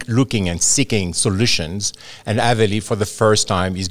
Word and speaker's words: Aveli: Avali. No. Aveli. Aveli. Yeah. Aveli. Aveli. Okay, thank you. You need the French accent, the French Aveli.